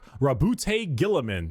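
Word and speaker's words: Roboute Guilliman: Primarch, Rabute Gilliman.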